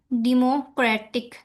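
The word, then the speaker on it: democratic: इसी तरह second example है डेमोक्रेटिक।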